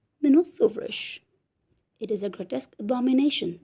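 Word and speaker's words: Μινώταυρος: The Greek pronunciation is Minothauros.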